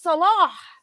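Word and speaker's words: Sallah: Allah into a name because it's Arabic and we have no clue about Arabic. And it's like, no, it's Salah.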